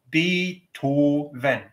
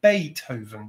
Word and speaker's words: Beethoven: And those vowels are all pure. Beethoven. An English person would look at the same word and try to pronounce it in a German accent and say Beethoven, because we take the vowel E, we change it to A without even thinking about it.